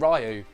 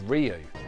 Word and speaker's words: Ryu: friends and i found out that we actually mispronounced the main character's name it wasn't ryu it was ryu well well well real i was looking for